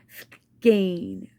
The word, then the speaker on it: skein: a brand new skein stains s-k-a and e is how it's pronounced skein i know s-k-e-i-n is the uh spelling but s-k-a any skein is the pronunciation by a brand new